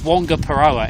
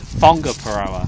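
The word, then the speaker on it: Whangaparaoa: Yeah, you pronounce WH. Yeah. Instead of it being Wonga Paroa, it's Fonga Paroa.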